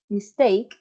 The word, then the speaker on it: mistake: done foreign okay so the stress um of the word mistake mistake is on the second syllable and that's good um